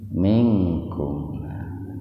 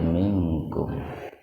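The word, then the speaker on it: مِنْكُمْ: Kum minkum, itu ifa akrab. Nun mati ketemu dengan kaf. Nah, dibacanya itu dibaca ihfa-nya sepintas saja.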